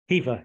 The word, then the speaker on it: Hever: in the afternoon head down to, is it pronounced Hever Castle? Hever, yes, Hever Castle, yes.